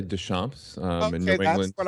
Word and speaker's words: Deschamps: Well, I say Deschamps in New England. That's what I normally would say. Somebody corrected me up here. So just Deschamps, welcome to the show.